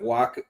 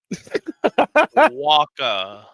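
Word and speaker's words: Wacha: No, it's it's ch man. Walka, I think. Yeah, it is walka.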